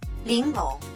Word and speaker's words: 玲珑: たいで、発音は、リンロン。はいと一緒に、リンロン、リンロ